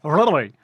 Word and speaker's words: Rattery: It was Rattery. Rattery. Yeah. Like a place where you would keep rats.